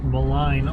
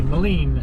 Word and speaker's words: Maligne: Discovered that I was saying Maligne all this time, but it's actually Maligne, as per the French-Canadian side of the language.